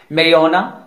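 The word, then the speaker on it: marijuana: Silent letter जे, दो word ही ऐसे हैं जिसमें जे साइलेंट है, मेरियोना मीन्स भांग या गांजा, एलेपिनो मीन्स ये मेक्सिको की हरी मिर्च है।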